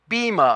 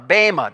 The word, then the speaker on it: bema: uses here is the word bhima or Bama depending on the way you want to pronounce that word this is a very